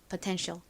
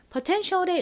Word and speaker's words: potential: 그래서 앞부분이 퍼와 같이 발음이 됩니다. T는 티흐 소리 나고요. E는에 소리 나고에는 니은 소리 나죠. 여기까지 읽으면 퍼이 됐고요. 그다음 끝에 덩어리 철자. 이 와서 potential이라고 발음합니다. potential. Potential의 의미가 뭐였죠?이 단어는 잠재력을 의미하는 단어입니다.